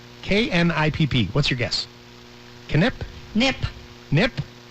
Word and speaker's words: Knipp: Nip. Nip? You don't pronounce the K? You never pronounce not the a K. knock. It's not a knife. Or knickers.